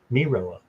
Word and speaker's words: Mirella: Oh, your name is pronounced Mirilla. Mirilla? Oh, Diamond's here. Okay. And Craig's here. Oh, it's Mirella? Yeah. Mirella. Mirilla.